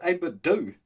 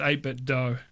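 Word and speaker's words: 8BitDo: I thought it was 8-bit Do. No, it's 8-bit Do. We were pronouncing it wrong for a long time.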